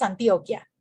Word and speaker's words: Antioquia: Ahí dije bien, ¿es Antioquia? ¿Está bien pronunciado? Bueno, aquí decimos Antioquia.